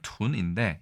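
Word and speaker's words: 豚: 특히 이 돈, 중국어 발음으로는 둔인데 이거는 작은 새끼 돼지 아니면 작은 몸집이 작은 돼지를 돈이라고 부른다.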